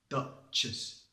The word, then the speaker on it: Duchess: However, Duchess is a duh. Duchess.